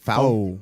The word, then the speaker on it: faux: How do you say that? Faux.